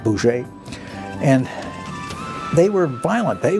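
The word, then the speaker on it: Bose: Chandra B who it's spelled BOS but it's pronounced something like Bou and they were violent they wanted to use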